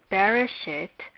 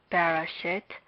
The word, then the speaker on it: Bereshit: Hence, we recognize Bereshit as a word with 3 syllables.